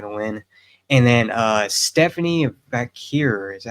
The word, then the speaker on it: Vaquer: And then Stephanie Vakir, is that how you say her name? She Vaquer.